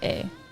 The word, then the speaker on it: eh: They say A. Like A, you know? Which you would think it would be spelled A-Y-E, but they spell that E-H.